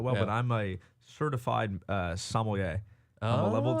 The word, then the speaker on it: sommelier: Sommelier. I always Sommelier.